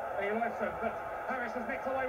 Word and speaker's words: Eyjolfsson: Pronunciation, Eliasson, but Harris has nicked away with the ball.